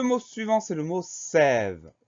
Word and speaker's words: sève: Le mot suivant, c'est le mot sève. Le mot sève est très court, il n'a que deux syllabes. Première syllabe, c'est S, E accent grave. Deuxième syllabe, ve, VE.